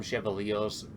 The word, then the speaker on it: Chevalier: like for call them chevaliers theion call them chevaliers yeah yeah it depends the accent if you if you're going to pronounce it like Orion then it would be chevali Chevalier yeah I must sh a